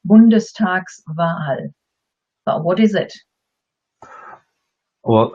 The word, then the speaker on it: Bundestagswahl: If we didn't have the S, it would be pronounced as two words. Then it would be Bundestag, and you automatically take a breather, Wahl. By adding the S, you can actually say it as one word, Bundestagswahl.